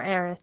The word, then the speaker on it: Aerith: A lot of people debate whether my name's pronounced Eris or Aerith, but I go with either.